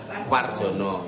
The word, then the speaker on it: Warjana: Tulisannya Warjana cuma moco Marjono, Warjono itu ya.